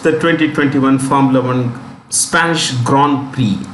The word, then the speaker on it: Grand Prix: The winner of the 2021 Formula One Spanish Grand Prix, it's pronounced Grand, it's French actually. Grand, okay, and Prix, the X is silent, Prix is prize, Grand Prize.